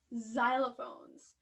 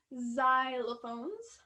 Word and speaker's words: xylophone: this case it is xylophones xylophone xylophone and practice pronouncing that at home so here it sounds kind of like a z something sounds like a